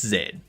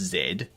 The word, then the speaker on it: Z: It's zed. It's zed. And the reason why it's pronounced zed is because if you say z, someone that